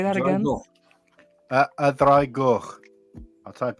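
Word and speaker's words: Y Ddraig Goch: A dragoch. Say that again. A dragoch. I'll type how it's spelled in the chat as well.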